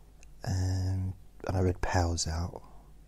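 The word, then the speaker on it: Pau: And I read Pow's out. Poo? Pow? I'm not sure how to pronounce. P-A-U. Pow. Pow.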